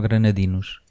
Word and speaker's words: granadinos: Man, an energy, a fantastic vibe and then the people from Granada, how do you say it, Marc? Granadenses or granadinos? Granadinos.